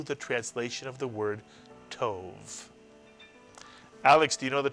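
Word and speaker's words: טוב: How would you pronounce this one-syllable Hebrew word? Tov is correct, or tov.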